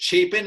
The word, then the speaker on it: Chapin: Is it Chapin? Am I saying it right, Sam? Yep. Yeah, you got it.